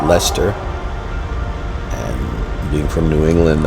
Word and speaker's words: Leicester: Richard III in leester so it looks like liester but it's pronounced Lester and being from New England I'm used to